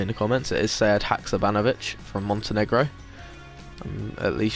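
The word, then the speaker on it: Sead Hakšabanović: It is Sead Haksabanovic from Montenegro.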